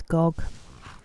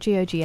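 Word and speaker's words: Gogh: His name is Gog. It's spelled G O G H. And I was calling him Goth, like Van Go, but apparently it's Gog.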